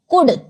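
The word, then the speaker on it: could: dear प्रिय जब हम किसी को कहते हैं कोल्ड कुड कोल्ड ठंडा कुड इसमें एल साइलेंट है कुड मतलब हो सकता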